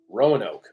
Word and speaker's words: Rowan Oak: things silently you know how do you say that okay I'm getting a row oh row row and knock Rowan o Rowan Oak okay Rowan Oak we're learning roke colony was founded